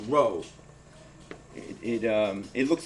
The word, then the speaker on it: rho: an italic symbol it's a greek symbol called row it um it looks like an italic p it's pronounced row it's also the symbol for density we'll be